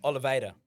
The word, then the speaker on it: Oliveira: No, Oliveira.